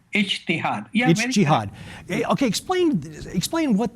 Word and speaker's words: ijtihad: critical thinking in Islam, and I believe it's pronounced ijtihad. Is that correct? Ijtihad.